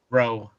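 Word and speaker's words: Roux: How do you pronounce the name? Does anybody know that? Rowe.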